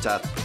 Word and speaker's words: debt: For example, limbs and death intersect each other with a silent B, or a line and right intersect with a silent G.